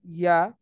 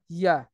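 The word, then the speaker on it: ي: তারপর হচ্ছে জিম, শিন, ইয়া, এই তিনটা হচ্ছে জিহ্বার আম, মধ্যখান থেকে তার বরাবর উপরে তালুর সাথে লাগিয়ে আমরা এটা উচ্চারণ করতে পারি। আহ, জিম, শিন, ইয়া।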